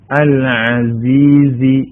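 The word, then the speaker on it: العزيز: ആണ് അവിടെ അല്ലെ പിന്നെ അൽ അസീസി രണ്ടാമത്തെ വേർഡ് അൽ അസീസി ഐനാണ് സായാണ് അടുത്ത വേർഡ് അറഹീം തൻസീലൽ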